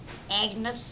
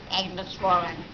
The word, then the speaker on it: Agnes: you can you say your name for me Agnus Agnus can you spell it for me a g n e s